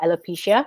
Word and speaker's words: alopecia: uh about your son but it's also about alopecia right did i pronounce it correctly yes correct yeah that's right